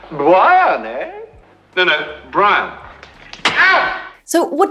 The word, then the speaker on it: Brian: Life of Brian what is your name je Brian Brian no no Brian so what does it sound